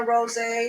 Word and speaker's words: Rosey: So it's spelled Rosie, but it's pronounced Rose.